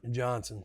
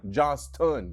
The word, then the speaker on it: Johnston: Johnson. Are you sure it's Johnson? Because Yep. it's spelled I mean, you with a coached there. S-T-O-N. You coached there for a minute. Johnston.